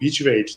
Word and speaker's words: butyrate: industry, we realized there was a compound called butyrate that did marvelous things for Can you pronounce that again?